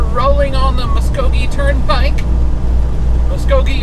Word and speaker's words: Muskogee: Muskogee, apparently how you pronounce it, according to my GPS.